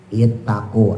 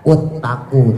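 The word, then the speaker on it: اتقوا: Ittaqu alif atau hamzah yang huruf pertama. Ta huruf kedua qof huruf ketiga. Ya, misalnya ada tulisan ya ayyuhannasuttaqu. Nah, maka dibacanya bukan uttaqu tapi dibacanya ittaqu.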